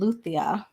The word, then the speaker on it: Louisa: It looks like it's spelled Louisa, but it's called Luthia. In Portuguese, Luthia.